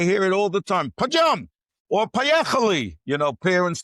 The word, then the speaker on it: Padyom: Is that how you pronounce it? No, not Padyom. Padyom.